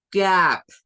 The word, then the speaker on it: cap: Vamos ahora con el siguiente que es cap, con el sonido K al principio para la letra C. Cap, no es cap, porque nosotros decimos cap, no es cap, cap.